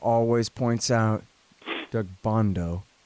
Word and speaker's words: Doug Bandow: Our friend Doug Bandow always points out, Doug Bondo is how you say it, not how you spell it.